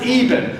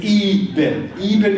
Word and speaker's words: Eben: of different people telling me different ways to pronounce his name. Stop telling me. It's Eben. I had it right the first Sunday. It's Eben Alexander.